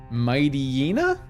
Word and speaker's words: Mightyena: guys say that Pokemon I've always pronounce it Mighty Yana like Mighty right and then it's it's ye n a so yenna but it's a hyena so Mightyena or M hyena kind of kind of